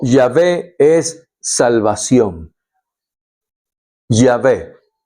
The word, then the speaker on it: Yahvé: salvación o Dios o Yahvé es salvación. Yahé, que uno lo pronuncia con vocales, pero son consonantes. Cuatro consonantes.